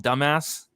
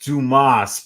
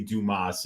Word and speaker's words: Dumas: Cody Brundage going against SD you call him dumbass it's pronounced Dumas but I mean like you know it could go it looks a lot like dumbass um but yeah it's actually Dumas it's special delivery Dumas is what I'm calling